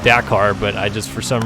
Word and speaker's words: Dakar: Dakar correctly, which, yes, I know it is pronounced Dakar, but I just, for some reason in my mind, I was thinking about it too fast or something.